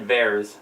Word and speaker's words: Vers: They pronounced it Vers.